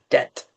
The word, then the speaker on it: debt: And you don't pronounce the B only the debt.